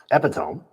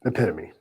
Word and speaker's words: epitome: The younger me read it as Epome, right? Mhm. To like a book. Um, what did I know? It was epitome.